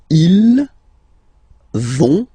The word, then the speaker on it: ils vont: okay, like here, but then you don't pronounce it, so ils vont, final T, not pronounced.